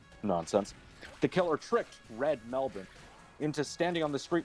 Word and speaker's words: Melbourne: Melbourne. That's how they Jesus pronounce it.